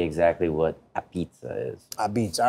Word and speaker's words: apizza: what a pizza is a beach all right so a-p-i-z-z-a uh beats so think of the word or the phrase red beats and then you could say I beats that's how it's pronounced